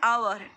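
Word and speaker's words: hour: Unicorn, a utensil, an आवर और an year. देखो यहाँ एच साइलेंट है, एच साइलेंट है एन आवर में, हम बोलते हैं तो ऐसा एच का प्रोनंशिएशन नहीं करते, वो साइलेंट है, यानी कि जिसका प्रोनंशिएशन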